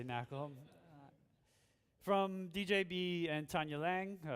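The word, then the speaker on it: NaCl: high level knackle library it's actually pronounced salt i always say mackerel from djb and tanya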